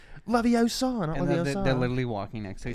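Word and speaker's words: Leviosa: when he's like can you believe her it's pronounced laviosa they're literally walking next to her yeah and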